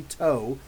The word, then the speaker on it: To: of X-Man, but Marcus Toe signed it. Look at that, guys. Come on now. Marcus Toe. And yes, I spoke with him, and his name is actually Toe.